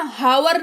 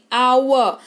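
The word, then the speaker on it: hour: आवर है ना, हावर नहीं आवर यानी कि घंटा, ठीक है? के कब साइलेंट होता है समझिए।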